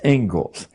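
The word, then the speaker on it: Inglis: as it is the Engles lecture looks like English but it's pronounced Engles and I would like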